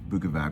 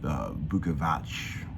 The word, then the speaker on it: Bukovac: at being Slovenian with my weird last name lukavac which I found it I'm pronouncing wrong all these years but apparently in Slovenia they call it Vuckovich but so you know